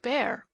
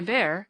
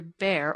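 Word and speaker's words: Bhaer: at his horrid name it isn't pronounced either bear or beer as people will say it but something between the two as only Germans can give it I'm glad you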